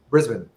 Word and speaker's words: Brisbane: been in the gold coast he's been in brisbane and he's been everywhere and everywhere been living